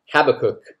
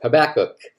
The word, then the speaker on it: Habakkuk: Everyone, today we are looking at the very short Old Testament book called Habakkuk, or Habakkuk, however you want to pronounce it, just whatever you say, say it with confidence.